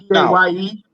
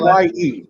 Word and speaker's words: Paye: Is that Paye? What's that? How do you spell his name? P-A-Y-E.